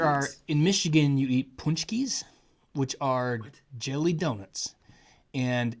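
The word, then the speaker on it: pączki: That is such a weird name. And it's spelled not like that. It's spelled like Pulzcki. Too many vowels in a word. Yeah, it's spelled like a Polak spells it because it's Polish.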